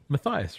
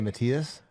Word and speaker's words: Matthias: of people really mispronounce it. Matthias, right? And I find it really strange. What do they say, Matias? Anything that's not Matthias. Mathis, Matias, I don't know.